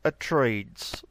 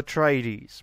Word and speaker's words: Atreides: Paul Atreides, the hero of the story, is Paul Atreides. Not Paul Atreides, but Paul Atreides.